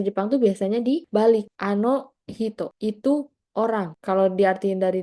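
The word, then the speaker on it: 人: Kanji ini bisa dibaca macam-macam. Kalau di sini dibacanya hito, ano hito.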